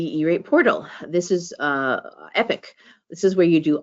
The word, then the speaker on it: EPC: now is in this one one place um epic it stands the the acronym that EPC stands for eate productivity Center it is pronounced epic um and it is your One-Stop shopping for